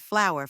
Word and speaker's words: flour: That's why it shares the same pronunciation as the word flower, like a rose or a daisy.